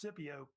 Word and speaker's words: Scipio: And Scipio Africanus, sometimes pronounced Scipio, was really the main